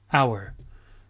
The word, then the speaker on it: hour: C'est un H, c'est assez rare, c'est un H silencieux. Donc on dit an hour.